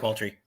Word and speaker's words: Moultrie: I know that Lady C and I fished Lake, help me if I'm mispronouncing it, Lake Moultrie? Yeah, Lake Moultrie.